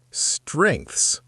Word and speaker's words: strengths: Well, the interviewer asked me a question, and I didn't understand the word strengths. Do you know that word? Strengths. Strengths. That is a difficult word to pronounce.